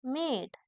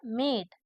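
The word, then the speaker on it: mad: ना एक का उच्चारण अगर इसमें में एम ए डी ई होता तो क्या होता मेड क्या होता मेड इसमें एम ई नहीं एम ए डी है मतलब मैड सॉरी थोड़ी मिस्टेक हो गई थी क्या बोलेंगे इसको मैड मतलब एम ए डी मैड फिर से पढ़ते हैं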